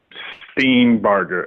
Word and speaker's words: Steenbarger: How do you pronounce it? Yep. Brett Steenbarger.